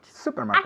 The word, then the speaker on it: supermarket: yesterday to the supermarket supermarket accent on the first syllabus supermarket supermarket very good